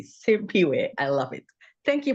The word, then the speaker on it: Simphiwe: name is so beautiful we have to pronounce it correctly simp way I love it thank